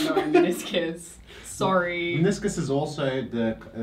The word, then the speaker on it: meniscus: Meniscus?